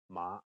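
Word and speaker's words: 馬: In Cantonese, mother is ma and horse is ma.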